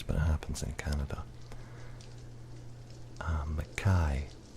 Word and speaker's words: Mackay: Mackay is always pronounced McKay here, and that's wrong. It's supposed to be Mackay.